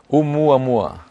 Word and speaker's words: Oumuamua: Pronounce it for me first. Oumuamua.